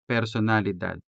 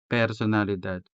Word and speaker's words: personalidad: Now let's go to the second word here, personalidad, personalidad. The letter E in personalidad could be sounded with the original E vowel, or it could be replaced with the native Hiligaynon E.